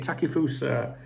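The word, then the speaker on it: Takefusa: now CUO uh there was um how' you pronounce his first name again takusa a it takusa takusa takusa Cubo massive write up about him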